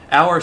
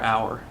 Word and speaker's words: hour: article n like our hour starts with the letter h but it doesn't start with that sound the h is silent it starts with the